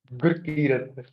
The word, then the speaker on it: Gurkirat: इट्स गुरकीरत, गुरकीरत, so sorry, GURKIRAT। गुरकीरत।